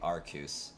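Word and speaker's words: Arceus: Rayquaza oh it's it's most definitely arus like arus is the only acceptable pronunciation when Pokemon company has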